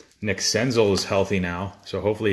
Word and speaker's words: Senzel: Bowman 9051 says it's pronounced Senzel.